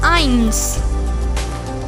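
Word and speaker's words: eins: learn german numbers zero is pronounced as null one in german irons irons irons two in german zye zye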